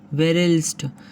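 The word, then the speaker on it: Verelst: हैदर अली जीता और तत्कालीन अंग्रेज गवर्नर था वेरेल्स्ट। कौन था? वेरेल्स्ट। एक मिनट, इसका जो उच्चारण है वेरेलस्ट, ठीक है।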